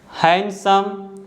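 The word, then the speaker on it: handsome: Rule number 1 कहता है the letter D is silent when it comes after the letter N. अगर जो letter D है letter N के तुरंत बाद आता है तो डी को हम नहीं बोलते हैं, डी साइलेंट होता है।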